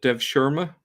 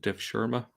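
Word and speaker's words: devşirme: servants um this system was called I think you pronounce it uh Dev Shera um it this term here uh I think is you pronounce it def Shera if well uh literally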